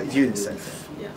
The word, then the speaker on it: UNICEF: It's not like I work for the UN. Because in that case, you have to pronounce the two letters.